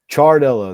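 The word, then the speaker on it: Ciardello: Chardello. That CI is a CH.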